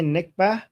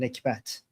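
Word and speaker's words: نکبت: We don't call it, so in Arabic they say nikbah, but we Iranians pronounce the t at the end, nikbat.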